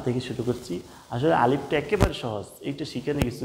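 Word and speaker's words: ألف: দেখুন আলিফটা হলো মুখের খালি জায়গা থেকে। আপনি স্বাভাবিকভাবে যদি বলে দেন আলিফ আলিফ আলিফ আলিফ জাস্ট একটু বাতাস বের হবে।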